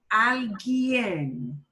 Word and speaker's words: alguien: Not algo, a thing, but alguien. Alguien. That U is not pronounced.